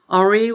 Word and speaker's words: Henri: I chose French because of him and learned not to pronounce the H.